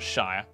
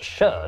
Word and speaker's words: shire: it's pronounced sheer not shire actually it's pronounced sure not sheer plebs over the centuries